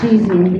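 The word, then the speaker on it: ChiZine: And by the way, I pronounced it Cheezing because that's the way Sandra's pronounced it when she's talking.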